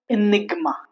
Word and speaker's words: enigma: For example, enigma here G is pronounced. See when I said when I pronounced paradigma, it's wrong. But when I say enigma, it's right. Stigma, it's right.